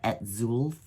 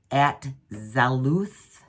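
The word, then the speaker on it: Atziluth: expression then we have at zulf i might be saying these wrong so this is world origins here it says at zaluth is how you say it um the world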